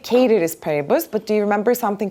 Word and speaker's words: ceteris paribus: Of course, we said something like the correct way of pronouncing it is actually ceteris paribus, but do you remember something called ceteris paribus?